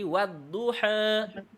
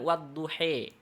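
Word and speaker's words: الضحى: Kalau misalkan kita baca wadduha menjadi wadduha, ya, wadduha. Bisa jadi ada yang lebih condong ke fathah lagi, tapi tidak dibaca dengan wadduhe.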